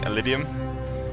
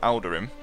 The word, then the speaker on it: Eldurim: I keep saying Elidium, which, in all fairness, is... Whoa! Not a good name as the actual name is called. It's the memory of Eldurim.